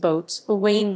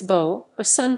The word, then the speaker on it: boatswain: officer in charge of hull maintenance is not pronounced boats or wayne rather its bow a sun too reflect the salty pronunciation of sailors as